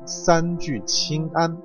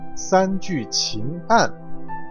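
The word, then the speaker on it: 三聚氰胺: 会将这几个字读成三聚氰胺，而剩下那 1%，如果你读成三聚氰胺，应该是属于经常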